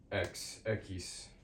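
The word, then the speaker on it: equis: Um, so phonetically it's like this. Eis X echis echis.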